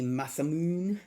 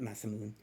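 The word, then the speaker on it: Masamune: We have a Masamoon, Masmoon, however you want to pronounce that. I pronounce it Masamoon.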